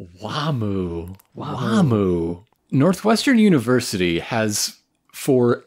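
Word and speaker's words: Wamuu: But they're using the normal names in the Japanese dub and they just say Wamu. So I think it might be just the Japanese pronunciation of it, maybe.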